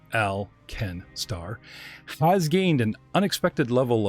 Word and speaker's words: Alkenstar: alkenstar the city-state of alkenstar pronounced al ken starr has gained an unexpected